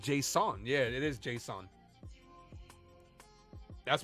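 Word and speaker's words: Jasson: up uh Davis says I understand it's not pronounced Jason it's pronounced Json yeah it is Json that's what David asked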